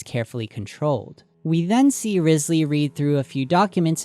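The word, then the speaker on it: Wriothesley: according to the internet this is how you're supposed to to pronounce his name let's talk about Risley in the final Feast trailer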